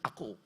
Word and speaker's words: Akoe: Kata mendengarkan itu ditulis dengan aku. Akoe, bacanya aku.